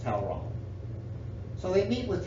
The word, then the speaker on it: Talleyrand: it that way but it's French and it's supposed to be pronounced towel wrong so they meet with towel wrong who is Napoleon's ambassador